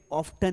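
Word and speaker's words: often: अब आपको सिखाया गया है कि यहां पर जो है टी साइलेंट है। ऑफन पढ़ो। ऑफन मतलब अक्सर। लेकिन अमेरिकन लोग इसे ऑफन ही पढ़ेंगे।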